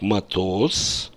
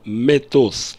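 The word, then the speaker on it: מטוס: mytask raw обратите внимание словом matos я произношу как matos но если это первое слово в сопряжении то вместо matos я произношу митоз тенденция к сокращению гласных звуков у нас а меняется на и ни в коем случае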